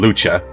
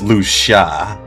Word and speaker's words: Lucia: Well, on the live stream, they said the way how you pronounce it is Lucia. Because everyone was saying Lucha. But it's Lucia. At least that's what the director told the host to correct us on.